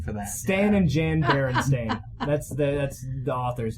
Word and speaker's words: Berenstain: I think it was spelled with the E, but Berenstain Bears is how you pronounce it.